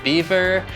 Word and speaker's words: Belvoir: One of the best ones, in my opinion, is Beaver from the Beaver Estate in the UK. Awesome. Phonetically, it looks more like Belvoir, but don't be confused. Not everything is what it seems.